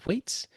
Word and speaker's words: Thwaites: Thwaites.